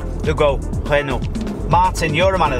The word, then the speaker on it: Renault: It's Renault. I'm telling you right now, if you stopped any French person and you said, what does that say? They'll go, Renault.